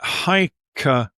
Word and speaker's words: Hyksos: So we get Hykasut. And the Greeks, they pronounced that as Hyksos. They bastardized a lot of these words into Greek. So they turned Hykakasut into Hyksos.